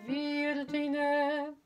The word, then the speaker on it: Virgine: Notice I, for all the voices, that I really make sure I pronounce V, verum, and then Virgine, okay?